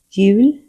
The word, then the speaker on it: jul: cirkel karina charmig J sounds like the English Y. The sound stays same wherever it appears in the word. Examples. jul tröja föl One fun exception.